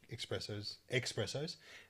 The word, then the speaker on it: espresso: I've had a million stovetop, espressos, and it just doesn't compare to a machine.